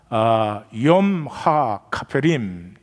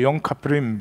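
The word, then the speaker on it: יום הכיפורים: 염하 카페림. 그래서 염 카페림, 그렇게 염 카페 미음자가 묵음하되다시피 그렇게 하죠.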